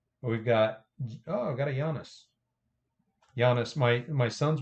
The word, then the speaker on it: Giannis: with names and I would always say it giannis and they'd be like hairy idiot it's Yanis so I I do say it correctly now I wish this